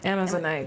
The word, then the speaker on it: Amazonite: Amazonite, there you go. Sometimes my syllables, you guys.